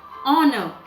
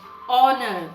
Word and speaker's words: honor: the spellings are h-o-n-o-u-r but when we speak h is silent it is an honor we speak it like